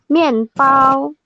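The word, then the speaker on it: 面包: Iya, Ian dibaca Yen, B dibaca P. Iya. Peng apa tuh? Jadi Ian. gini bacanya. Mian pao.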